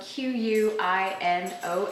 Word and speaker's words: quinoa: you go our next one is quinoa spelled q-u-i-n-o-a and pronounced quinoa it's an ancient grain from south